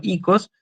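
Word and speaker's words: οίκος: La palabra oikos se sigue usando en griego moderno, se dice de hecho ikos, pero tiene un significado mucho más reducido que el de casa.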